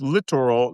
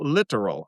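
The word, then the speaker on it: littoral: Uh, Malcolm, the literal combat ship is pronounced literal, not literal. I know. And I always spell it the literal combat ship, Li T O R A L, which means inshore, close in shore.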